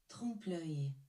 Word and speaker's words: trompe-l'œil: Trompe-l'œil.